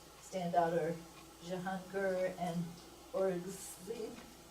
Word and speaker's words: Aurangzeb: out are Jahangir and Aurangzeb. Aurangzeb. Aurangzeb. Punjabi pronunciation.